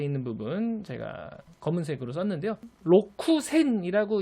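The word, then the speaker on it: 六千: 로쿠센이라고 이제 발음해야 원칙대로 발음하는 건데, 일본어의 카키쿠케코 행에 해당하는 히라가나와 그 뒤에 사시스세소 히라가나가 나오면은 우리 이제 흔히 영어의 X 발음처럼 크스크스 발음 현상이 발생한다고 하잖아요. 그래서 로쿠센이라고 읽지 않고 록센이라고 읽어주는 게 자연스럽습니다. 그래서 일본어에도 사실은 이렇게 기억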